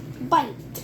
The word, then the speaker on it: bite: Yeah, because it has the silent E at the end.